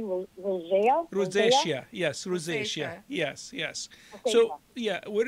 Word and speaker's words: rosacea: any treatments or I'm not sure if I'm pronouncing it correctly Rose rosacea yes rosacea yes yes so yeah where is your rosacea